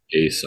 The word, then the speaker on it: Asa: And then obviously they go off, and obviously Asa was already doing awesome things with Asa.